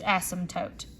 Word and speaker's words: asymptote: It's spelled funky, so people don't know how to pronounce it, but the P is silent, okay? So it's asymptote.